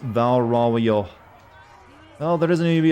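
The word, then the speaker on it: Val Royeaux: goodwill and stuff the french name i keep butchering at val roy x is pronounced valerao oh there doesn't even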